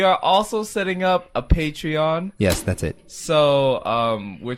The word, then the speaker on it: Patreon: We are also setting up a Patron. You're just Pr- are you just gonna say this all the time, Han? pronounced. Han. It's pronounced Patreon. Oh, It's Patreon.